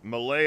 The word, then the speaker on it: Mallet: this is this is malay island it's it's spelled mallet but it is okay all